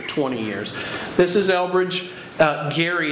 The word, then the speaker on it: Gerry: Gary is how you pronounce his last name, and you see his pedigree there, one of our founding fathers.